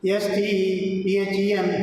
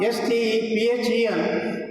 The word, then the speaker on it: Stephen: In the same way, the famous scientist considered next to Newton, S-T-E-P-H-E-N, Hawking. Now, S-T-E-P-H-E-N, 99.9% of the people pronounce it Stephen.